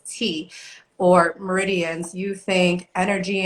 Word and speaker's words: chi: And when you hear the words like chi and properly pronounced as tea or meridians, you think energy and like this non tangible phenomena that happens, right?